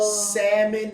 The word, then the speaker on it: salmon: Stick to a grouper, Es sencillo, manténganse con el grouper, el pez red el snapper, colorado, salmon, not salmon because the L is silent.